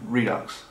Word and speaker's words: Redux: basically the first film Redux or Reed du how' you pronounce that Redux good got it right first time right so number two